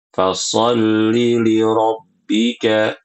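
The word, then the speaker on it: فصل: Kemudian di ayat yang ketiga, Ibu-ibu rahimakumullah, pada kata fasolli, pada kata fasolli ini sering dipanjangkan ya, tidak boleh kita panjangkan karena dia ini bacanya pendek. Fasollibbika.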